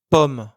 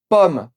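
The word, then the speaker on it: ผม: On dit pomme, comme une pomme. Ce mot s'écrit sans aucune voyelle. C'est donc le O de moto qu'il faut prononcer de façon courte.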